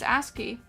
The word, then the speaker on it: ASCII: Okay, is it actually ASCII? Like ass and key?